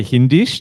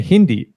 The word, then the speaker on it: Hindi: English Kish Dutch japanish but uh Hindi we didn't add is we don't say hindes that would be weird we just say Hindi Hindi exactly and then